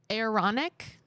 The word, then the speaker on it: Aaronic: They move up through the Aaronic, I think that's how you say it, priesthood ranks.